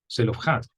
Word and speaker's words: Zelofehad: Entonces, vamos a seguir con el caso de las hijas de Zelofehad, ¿verdad? O Zelofhad, como podríamos pronunciar también.